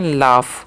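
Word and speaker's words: laugh: अब एल ए यू जी एस है ना तो इसे लाफ नहीं। इसे पढ़ते हैं लाफ।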